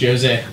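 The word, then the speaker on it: José: Actually, it's pronounced Jose.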